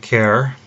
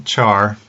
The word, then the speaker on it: char: take a look at care and we'll take a look at boolean after that so care or some people pronounce a char either way it's fine C equals some